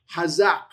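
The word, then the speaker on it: חָזַק: That give strength is the word chazaq. Okay, you have the chet qamats, zayin, patah, qof. Chazaq, okay?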